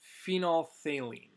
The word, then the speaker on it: phenolphthalein: is known as phenolphthalein it's a long word a lot of letters there that is pronounced phenolphthalein this changes between clear